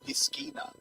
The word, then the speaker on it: piscina: Piscina. Rhymes with Christina.